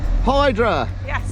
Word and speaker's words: Hydra: Hydra! Or Idra if you pronounce it properly.